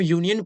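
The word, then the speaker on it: union: letter तो वल होता है लेकिन जब हम यूनियन पढ़ेंगे क्या पढ़ेंगे यूनियन जब हम यूनियन पढ़ेंगे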